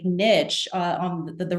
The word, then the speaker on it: Niche: And they're going to something like Niche, uh, on the the right the image on the right, and I I promise that's the correct pronunciation. I've worked with them directly. Uh, so Niche is a a research tool to compare universities.